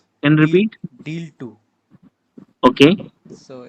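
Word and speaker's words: deal.II: two if you've heard its name and repeat deal two okay so it's spelled like d-a-l and this two okay deal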